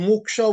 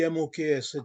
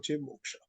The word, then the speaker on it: Moksha: be k-a-m or k-a-m and muksha would be Moksha Moksha Dharma doing things righteously